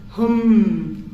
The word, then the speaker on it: hum: own um mantra and this mantra is hum okay it's h o O M. Okay. And the pronunciation it's like a U.